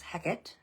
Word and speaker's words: Hecate: There's multiple locations named after Hecat, which they pronounce Heckett um here from the ship Heckett.